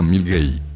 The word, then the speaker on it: Milngavie: Milngavie se pronuncia Milgate.